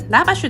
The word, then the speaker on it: lavash: アルメニア名物薄焼きパンラバシュです。ガイドの発音だとラって感じでした。